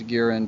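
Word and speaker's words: Guiron: Gearin because that's how they pronounce it in the Sandy Frank version because an MST they make a joke about it rhyming with urine mean butt in gear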